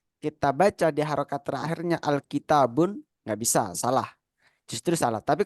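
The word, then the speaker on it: الكتاب: Contohnya adalah Alkitabu. Kita nggak bisa menyebutkan Alkitabun. Nggak bisa. Karena ada alif lamnya.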